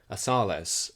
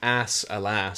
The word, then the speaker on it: Asales: So the way it's spelled, I was saying it was ass alas. So I kept going, Mrs. Ass alas. Is how I kept saying it.